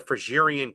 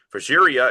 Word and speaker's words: Phrygia: Phrygia is a Greek word meaning freemen. Our English word free comes from the first syllable, fry.